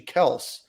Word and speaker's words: Kelce: Their last name is actually Kels, and they thought it would be appropriate at the Super Bowl to say it's actually Kels and not Kelce.